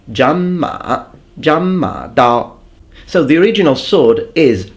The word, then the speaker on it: Zhanmadao: Chinese, please remember that when you have two third tones, you don't fully pronounce them, but the first one of the two will change into a second tone.